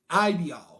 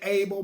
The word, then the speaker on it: Abael: Abael. We say Abel, but the way they got it written is Abael.